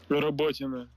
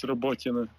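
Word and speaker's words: Роботине: Robotina. Thank you. I hope that the people understood, but it's Robotina.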